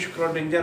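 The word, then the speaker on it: Schrödinger: देखो लिखण च श्रोडिंजर आना, पर बोलण दे विच प्रोनाउंसिएशन दी श्रोडिंजर है।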